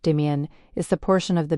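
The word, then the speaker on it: demesne: Demens pronounced demian is the portion of the manner the lord farms directly for himself using surf labor.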